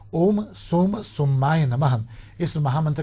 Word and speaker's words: ओम: थोड़े समय के लिए ओम जो मंत्र है अ उ और म का उच्चारण करें ओम मंत्र में